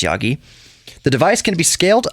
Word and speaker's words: Yaghi: Anyways, according to UC Berkeley chemistry professor Omar Yaghi, Yaghi, I assume that's pronounced Yagi, the device can be scaled up to provide an entire household with water.